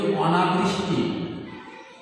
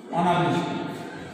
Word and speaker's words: অনাবৃষ্টি: যেমন শব্দটা দেখি, অনাবৃষ্টি, এটা এর উচ্চারণ এখন হবে অনা বয়রি বৃষ তৈরস্বী টি, অনাবৃষ্টি।